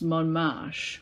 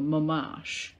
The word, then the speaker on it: Montmartre: a word in it they'll tell you how it's said and it's Mon marche or ma Marsh is how you pronounce it and now that was